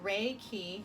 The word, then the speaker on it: Reiki: So, it is pronounced ray key and it is a Japanese word consisting of two characters.